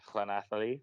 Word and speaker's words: Llanelli: playing for Bridgend, then Llanelli. Look at that pronunciation for all my Welsh fans out there.